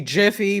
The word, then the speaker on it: Giphy: How would you pronounce it? It's really supposed to be Jiffy, but whatever. I say Giphy, but there's I did too, because I see the pronunciation.